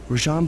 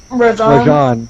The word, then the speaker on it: Rajan: Rajan believes displaying the wings will bring him prestige, and maybe they will, but they're also bringing me.